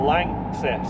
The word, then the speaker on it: LANXESS: It's a German company. Yeah. L A N X E S S Less. Lang Lang. Lances. Like success, but Lances.